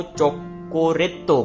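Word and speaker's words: チョコレート: And chocolate को चोकोरेतो बोलते हैं। ठीक है? चोकोरेतो। ठीक है? एक यहां पे अपनी लॉन्ग प्रोनाउंसिएशन है। इसका ध्यान रखना। यहां पे देखो रे के बाद मैंने लाइन लगा रखी है।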